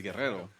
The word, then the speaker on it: Guerrero: was like oh like just so you know the correct pronunciation is Guerrero he's like oh yeah Guerrero but like he said it kind of a little whitish but he rolls his ARS he's like I know